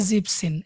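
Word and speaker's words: siebzehn: similarly জিভেন থেকে আসছে জিপসিন এসই এবি এন জিবেন এখানেই এনটা আসবে না তাহলে জিপসিন জিপসিন মানে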